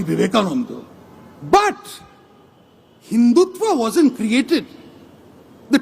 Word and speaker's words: Vivekananda: Of course, he got one thing wrong. It is pronounced Swami Vivekananda, but Hindutva wasn't created.